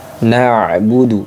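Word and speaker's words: نعبد: sedangkan suara masuk kategori tawassut tawassut itu sedikit tertahan dan sedikit mengalir nabudu nabudu nah seperti itu teman-teman jadi bukan nabudu tapi nabudu kalau Hamzah Hamzah itu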